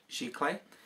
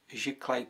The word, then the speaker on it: Sziklai: Sziklai.